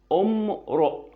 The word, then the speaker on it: امرؤ: فهنا برضو اول ما اشوف الكلمه دي والالف ده اهو بتاع كلمه امرؤ جت في نص الكلام، فهوصل الكلام اللي قبل الف الوصل ده بالسكن اللي بعد الف الوصل.